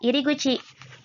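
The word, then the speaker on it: 入口: kan kakinya keluar ya Berikut ini adalah iriguchi bacanya beda ya tadi Khairul ada ireru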